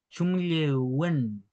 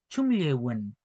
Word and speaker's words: chumllewün: Chumlewen. Chumlewen. Así lo vamos a pronunciar ya, para que tengan cuidado con su correcta pronunciación.